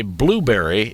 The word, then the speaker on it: Blubrry: By the way, Blubrry is spelled B-L-U-B-R-R-Y. There's no E in berry.